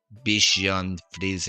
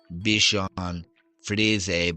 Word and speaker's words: Bichon Frise: pronounce the dog breed Bichon Frise. In French, we would say Bichon Frise, but in English, it would be pronounced Bichon Frise."